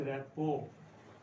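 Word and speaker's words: rapport: इसमें आर, क्योंकि T silent है इसमें, जब टी साइलेंट है तो लास्ट में आर आ गया, तो आर लास्ट वाला पता ही आपको कैसे बोलते हैं, तो इसको बोलते हैं रैपो।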